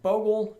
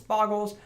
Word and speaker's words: Bogles: the name said creatures actually pronounced bogel if you talk to majority of the community then there's the other portion of the community that thinks it's boggles I don't think it